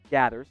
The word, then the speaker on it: Geathers: And it's Clayton Gathers. Gathers. Yeah, the E is, I should have given the pronunciation, guys.